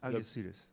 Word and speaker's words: Algeciras: You'll pronounce it correctly. Algeciras. Okay, Algeciras.